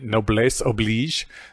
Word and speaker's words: noblesse oblige: I think this fits into our discussion about the noblesse oblige. Apparently I was mispronouncing it the whole time, because unlike every other French word with S's, and this one, you actually pronounce the S.